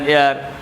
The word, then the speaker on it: heir: Exceptions number 1, if the sound of H remains silent or pronounces as O in Bengali, Shor O, then we should use an before the word.